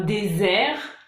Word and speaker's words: désert: Donc par exemple, un désert, un dessert.